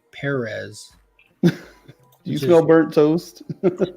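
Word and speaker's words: Pérez: out live on stream that's how he pronounced his last name if you say George Perez he correct you Perez do you smell burnt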